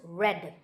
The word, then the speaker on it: read: e a d but pronounced red like the color red so you might be